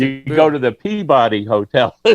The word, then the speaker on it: Peabody: you know how do you pronounce PEABODY? Peabody.